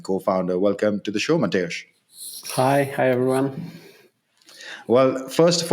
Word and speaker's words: Mateusz: Welcome to the show, Mateusz. Hi everyone. Well, first of all, I think I did pretty okay with the pronunciation, Mateusz.